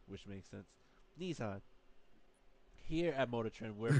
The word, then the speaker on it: Nissan: In Japanese, two is pronounced ni and three is pronounced son, which makes sense. Nissan.